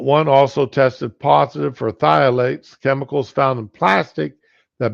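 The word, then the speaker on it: phthalates: harmful whatever violates Pilates I think that's pronounced just thiolates the pH being silent Consumer Reports called n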